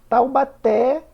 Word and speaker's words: Taubaté: forte Então vamos lá Taubaté última sílaba oxítona Lúcia penúltima sílaba paroxítona